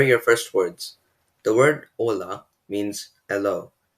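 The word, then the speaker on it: hola: first words the word ola means hello notice that the h is actually silent in this word conversely the word adios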